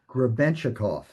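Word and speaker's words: Гребенщиков: How do you pronounce Boris's last name? Grebenshchikov. Grebenshchikov.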